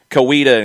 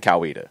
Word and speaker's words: Coweta: are saying it like the difference is between kuwita and kaweda i mean that that's that's speed that's that's individual people's way of speaking uh ricky ricardo worked in coweta heard it more a little koita yeah so again that's a little that's a subtle difference yeah lafayette and lafayette